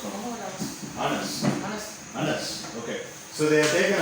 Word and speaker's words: Anas: Unnode name எப்படி pronounce பண்ணுவோம்? Anas.